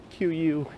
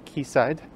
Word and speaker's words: Quayside: through the future queensland or keysight neighborhood spelled q-u-a-y-s-i-d-e so i have to resist temptation to call it quayside it's actually keysight or at least that's how i think it'll